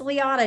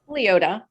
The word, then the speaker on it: Liota: we're super excited to talk to her denise leona did i say that correctly denise leota leota okay thank you for fixing i guess